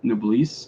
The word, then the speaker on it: Noblesse: We're planning on reviewing Noblesse. I don't know how to say it. Noblesse or something? It's Noblesse. It's French, I think. Yeah, I'm pretty sure it's a Noblesse.